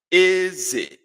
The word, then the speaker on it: eze: It's pronounced as eze. Eze. High low. Eze. Eze. Eze. That is high low.